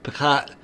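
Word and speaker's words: פסח: them P or Deliverance picat is how the Jews pronounce the name of Passover in Hebrew even today okay so the other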